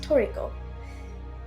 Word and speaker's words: Trico: dog cat bird Chimera Tria which in game is pronounced toico this companion is an